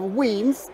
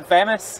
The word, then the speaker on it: Wemyss: But Wemyss Malts and Kingsbarns, we got a really, really great selection of whiskies. To round this up, or to finish this off, when you first learned of Wemyss, did you know how to pronounce it?